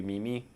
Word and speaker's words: meme: That's not Did you know it's not even pronounced meme? It's actually Mimi. But somebody like said meme and that's how the name stuck.